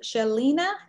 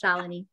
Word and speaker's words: Shalini: Is this Shalina? Did I say it right, Shalina? Yeah, it's close, but it's okay. It's a hard name, it's Shalini.